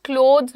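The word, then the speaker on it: clothes: Pronunciation का ध्यान रखना। क्लोथ्स बोलते हैं।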